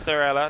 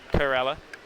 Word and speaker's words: Thorella: Thank you for telling me that it's Thorella, not Corella.